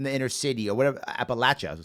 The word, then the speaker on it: Appalachia: Appalachia, I'll say it right. People get mad at me. You're from Appalachia, or you're from the inner city, or insert